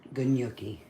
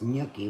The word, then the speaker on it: gnocchi: a dry yogi so a lot of people um pronounce it gnocchi but it's gnocchi without the um g the g's mash it all down